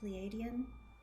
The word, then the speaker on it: Pleiadian: Fae that turned out to be, did you pronounce it Pleiadian?